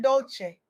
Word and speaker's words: Dolce: I'm your host, Dolce. Pronounced dol say, like sweet softness whispered in French.